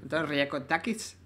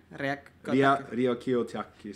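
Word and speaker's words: Ryakiotakis: So during Gooseberry, I asked Antonis to make me Riakotakis. Yeah. Riakiotakis.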